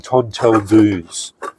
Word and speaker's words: tonteldoos: And as far as I know, cuz I looked it up cuz I could could never pronounce it. That's apparently how they um pronounce the South African tinder box.